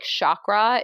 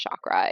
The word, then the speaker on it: chakra: not say correctly like chakra is not pronounced chakra it's like chakra which probably even then i'm not saying it perfectly same thing with like